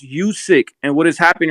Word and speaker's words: Usyk: because using names listen usyk's name is pronounced you sick and what is happening